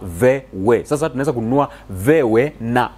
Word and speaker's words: VW: Unajua V ni kwa Kijerumani, VW inatamkwa kama Vewe.